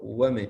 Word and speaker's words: women: and is men yes oh the difference in pronunciation is we say man man long sound the plural men okay like woman women you see this sound short women woman women man